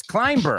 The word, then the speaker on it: climber: he wanted he's like it's climber I'm like B okay no you can't put the bee in there it's just there to throw you off so here's your mission